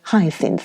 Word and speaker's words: hyacinths: think i'll have those hyacinths taken out why they're so beautiful she pronounced it with a y sound and the scent is